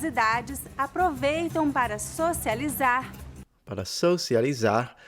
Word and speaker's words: socializar: Pessoas de todas as idades aproveitam para socializar, Para socializar, she did not pronounce the R at the end like the previous guy.